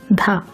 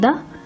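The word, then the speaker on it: ध: they're /dʌ/ and /dhʌ/ not "daha". it is "dha" this is /dʌ/ and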